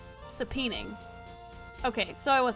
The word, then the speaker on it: subpoena: saon subpoena saping saping sap h s subpoena okay so I was saying it right seening